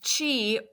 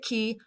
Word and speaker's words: qi: find in English and I pronounced it Kei but it's not Kei it's Chi uh the word chiong